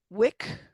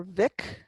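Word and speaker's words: Mhic: Mac changes to Wick, M-H, Wick, or Vic, depending on where you are.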